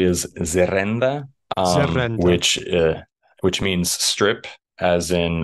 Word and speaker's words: zerrenda: Yeah, so the word in Basque, I think I'm saying it correctly, is zerenda, which means strip, as in the Gaza strip.